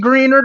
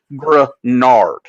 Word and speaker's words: Greenard: It could be Greenard, but as far as I've heard and as far as I know, it's Grenard. Like Menards, but just green.